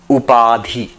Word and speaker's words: upadhi: Upadhi in um if you want to spell it up a d h i up p a d h iadi.